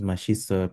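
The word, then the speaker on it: 맛있어요: This double S moves to where the silent is, becomes Mashisoyo.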